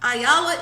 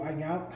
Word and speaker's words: Iyanla: Iyanla is back.